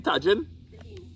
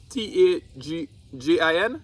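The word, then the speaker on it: Tajín: Tajin? Yeah. Tajin. You could ask it. Oh, so because it's Mexican, they pronounce it with a H.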